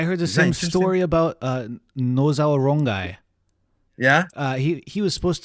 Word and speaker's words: Nosawa: I heard the same story about Nozawa Rongai. Yeah? He was supposed to be Nosawa, or Yeah. Well, no, Z is fine, but in Mexico, Z you don't pronounce it, so it became S instead of Nozawa.